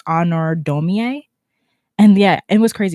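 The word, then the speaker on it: Honoré Daumier: And I also heard about another artist whose name is spelled weird, but it's pronounced Honor Domier.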